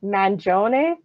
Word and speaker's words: Mangione: So we start with Francesco, and this is how the internet says to pronounce his last name, Mangione. Mangione.